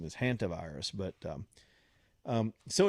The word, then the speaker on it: hantavirus: Some people, I guess the real pronunciation is hantavirus, but so it's out there and it's floating around, and then here come the conspiracy nuts.